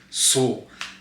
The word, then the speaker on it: SUL: My name is Paul Sharp and I'm here to talk to you guys a little bit about position soul. Now it's spelled sul if you guys didn't know.